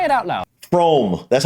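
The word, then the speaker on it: Frome: your train from wrong it's not FR e thought om it should be blithering obvious is pronounced FR but if you did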